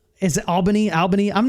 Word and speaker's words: Albany: to be running some satellite gaming Clubs in Albany like I mean we are we're really um I think Alban is it Albany Albany I'm not from here originally dude yeah